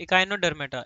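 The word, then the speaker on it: Echinodermata: लल्ला हम the biological term इकाइनोडर्मेटोडर्मेट ठीक है इकाइनोडर्मेटा इकाइनोडर्मेटा का मतलब होता है ऐसे ऑर्गेनिज्म जिनमें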